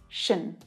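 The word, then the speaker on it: -tion: always a noun and the pronunciation of this syllable is always unstressed it's always an unstressed syllable which means it's really quick chené chené yeah tion is pronounced shin if it was written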